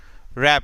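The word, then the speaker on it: wrap: रैप, डब्ल्यू आर, देखो मैंने are sound वाले यानी साउंड्स विद आर वाले में बताया था कि डब्लू के साथ जब भी आर दे दिया जाए तो डब्लू साइलेंट रहेगा, तो यहाँ पे सिर्फ रा की आवाज आएगी।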